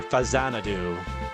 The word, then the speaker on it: Faxanadu: kind of like that faxanadu style of game or Fazanadu as it's supposed to be pronounced, right?